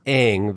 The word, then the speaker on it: Aang: deeper in reality so I pronounced the names as Asians would oh my it's just impossible to pronounce Aang the way it is used in the series it's incorrect I can't do that so I just pronounced it correctly and yet you cast